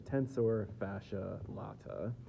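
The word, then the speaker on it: tensor fasciae latae: We've got the tensor fascia latt. I've heard it pronounced a couple different ways. I think probably the best way to say it is the tensor fascia latt.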